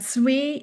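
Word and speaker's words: zwee: And zwei is another example like that where the W sound becomes a softer pronunciation.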